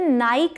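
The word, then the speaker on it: Nike: अब अगला है GUCCI, ये भी एक ब्रांड है नाइकी की तरह। तो जैसे नाइक नहीं प्रोनाउंस करते, नाइकी करते हैं, वैसे इसे गुस्सी या गुकी ऐसे नहीं प्रोनाउंस करते, इसे प्रोनाउंस करते हैं गुची, गुची।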